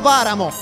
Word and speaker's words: Varamo: della Lazio, DC System, Valerio Varamo, perché questa la pronuncia corretta, con un capello poco